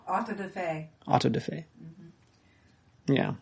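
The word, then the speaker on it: auto-da-fé: How do you pronounce it? Auto de fe. Auto de fe.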